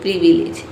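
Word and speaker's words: privilege: इसमें सभी को हम इ प्रोनाउंस करते हैं। ठीक है? प्री हो गया पी आर आई प्री और ये हो गया वी ली जो प्रीविलेज।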